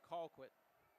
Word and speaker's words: Colquitt: to nothing lead on Colquitt actually now that we're pronouncing names correctly I should say Colquitt flag on the kickoff